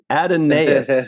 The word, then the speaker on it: Adonais: Who mourns for Adonias? I think that's how you say it. Adonais? That's the way I've always said it, and God knows if I don't know, nobody does. Adonais.